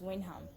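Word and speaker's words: Wyndham: I loved it although it is shortened us win throughout the whole book but it is Windham yes it took time to learn how to pronounce it when when home yes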